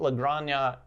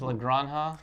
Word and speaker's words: La Granja: where if you thought La grania by the way are we saying it right is La Granja I remember that when